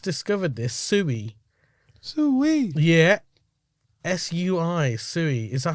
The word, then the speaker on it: Sui: So S-W-E-E. Yeah. Sui. It's sort of, yeah. Do you know what I mean? I'm guessing anyway. That's what it's saying here. Okay. So Sui, what is it?